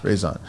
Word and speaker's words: Rezan: Rezan, right? Yes. Rezan. I want to make sure I'm pronouncing it right. So is that a Turkish name or a Filipino? It's a Turkish name, yeah.